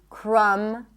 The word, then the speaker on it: crumb: When there is MB, especially at the end of words, the B is not pronounced. So in words like limb, climb, no B, bomb, no B, crumb, plumber, comb, there is no B whatsoever.